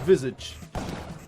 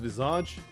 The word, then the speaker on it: visage: Is it visage or visage? In French. In French, where the word is from, is visage. I'm almost certain about that. But the English version, you might pronounce it visage.